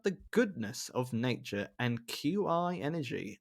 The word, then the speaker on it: qi: nature and qi energy i'm going to say that again because i think it's chi energy energy it is yeah do you know how i know that dan how it's because um it's spelt q i as i've i said